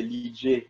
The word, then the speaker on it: Ligeh: Non, c'est la vraie prononciation, c'est Lidje. Donc, ça, c'est moi, Lidje.